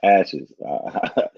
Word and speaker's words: ASHS: Wait, ASHS, African Self Hate Syndrome, pronounced ashes.